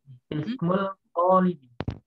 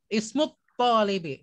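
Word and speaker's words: اسم الطالب: Ismul Talibi. Ismut talibi. Jangan ismul bacanya ismut. Karena itu alif lam syamsiah. Maka lamnya tidak terbaca.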